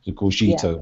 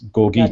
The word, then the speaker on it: Gogito: of Latin language background I was making the second G soft goito but it's gogito that's more Italian is